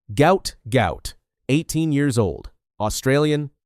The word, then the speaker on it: Gout: They fled the country, spent years in Egypt, and arrived in Australia in 2005, 2 years before Gout was born. His name rhymes with Pout, a misspelling that happened when the family's name was transliterated from Arabic.